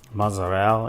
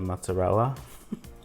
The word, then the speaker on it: mozzarella: Um like how some people, you know, say gabagul instead of capaci or mozzarell instead of mozzarella.